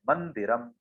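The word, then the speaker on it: मंदिरम्: न का उच्चारण इसलिए हो रहा है क्योंकि उसमें बिंदु के बाद वाला जो अक्षर है वो द है, और द के समूह में जो अनुस्वार है उसका हम प्रयोग वहां पे कर रहे हैं, उच्चारण कर रहे हैं, मंदिरम।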